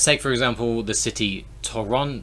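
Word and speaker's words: Торонто: for example the city toronto toronto in in canada in russian i believe uh the the stress is on the second o so the other ones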